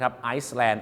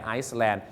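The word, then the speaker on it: island: เกาะ เี่ นะ ครับ is l a n d แหม ได้ ยิน กัน ประจำ นะ ครับ ไซแลน ไอแลนด์ อย่า ลืม นะ ครับ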